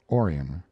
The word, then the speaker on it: Orion: a boy was born they named him orion after the constellation perhaps though they changed the accent to the first syllable calling it orion gainesboro was a small